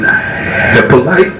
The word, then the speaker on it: Hyppolite: correct people pronounce it it's a haitian name so that's that's the correct way but i just found that out a few years a few years ago i've been saying hip like okay okay what